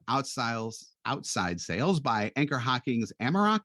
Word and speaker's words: Amerock: She was the first woman ever hired for outside sales by Anchor Hocking's Amerock. Am I pronouncing it? Is it Amerock? You did great.